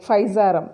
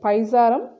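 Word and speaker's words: Physarum: under that we have so many example like faizarum it was given near ncr book paisa p h y s a r u m pizzarum as an example for slime mode so it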